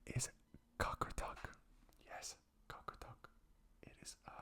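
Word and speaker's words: Qaqortoq: And the specific name is Cockeruck.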